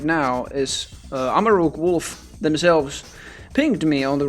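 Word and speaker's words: Wulfe: set made by Amaruk Wolfe last year. I think it's just Amaruk Wolf, but the name is spelled W-U-L-F-E.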